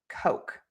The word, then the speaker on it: Coke: So, in English, we have this very long O vowel. And our mouth moves more for this vowel than it does in many other languages for the O sound. And so, think about moving your mouth. O and making that sound longer and that is going to fix that mistake.